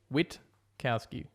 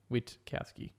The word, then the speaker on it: Witkowski: You just pronounce the T and the K.